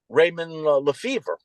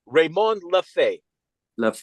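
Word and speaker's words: Raymond Lefèvre: there was one by Raymond LEF and he yeah no but the the correct pronunciation is raymon LEF ah okay okay what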